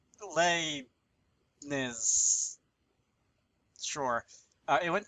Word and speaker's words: Leibniz: a name I know, but I couldn't even pronounce it back when I took actual math classes. So it's Leibniz.